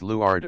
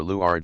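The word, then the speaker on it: leeward: used on small sailboats leward on the Le side an object to leward is on the Le side pronounced leard or leard Lifeboat a boat carried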